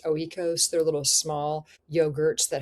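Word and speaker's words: Oikos: some of these like I think they're pronounced oeos.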